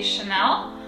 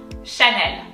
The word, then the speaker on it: Chanel: on the m ned i believe that in english you would say chanel and it's kind of like on the quieter side and definitely no emphasis on neither the n nor the l and in french it's definitely that way so it goes chene and then even for parisian people they kind of tend to add like ease that don't exist at the end of every word so